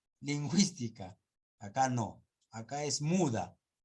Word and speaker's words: lingüística: yo no es cierto solo cuando estés a diéresis recién se va a hablar se va a pronunciar la u where we belong cigüeña lingüística acá no acá es